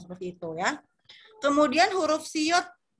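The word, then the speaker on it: 시옷: Huruf siot ini seperti S ya, nggak ada beda pelafalannya, sama persis kayak huruf S ya. Siot, siot, siot, siot. Ya, dia kalau di depan seperti huruf S dibacanya, tapi kalau dia jadi akhiran maka jadi huruf T, mati ya. Bukan sios, tapi siot gitu ya, siot.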